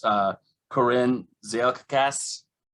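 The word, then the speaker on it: Koren: phonetic the way it looks but it's uh corinne zeal cass spell it the last it's corres k-o-r-e-n and it's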